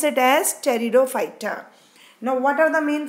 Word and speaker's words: Pteridophyta: carefully cherried a fighter in which letter P is silent so we pronounce it as Toledo fighter now what are the